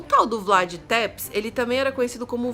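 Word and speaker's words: Vlad Țepeș: personagem da história a pena que é o Vlad tepes eu acho que assim que pronuncia o nome dele deixou olhar minha cola é o Vlad tepes que também era conhecido como o empalador gente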